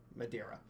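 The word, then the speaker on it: Madeira: still control uh uh Madia or Madera Madera that's how you say it so they they they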